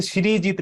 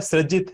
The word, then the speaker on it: Srijit: कैसे किया जाता है, क्योंकि इंग्लिश के हिसाब से श्रीजीत लिखा जाता है, मुझे लगता है सृजित है, सृजन से आया ये शब्द। क्या एब्सोल्युटली, ये वर्ड सृजन से आया है, तो सृजित है।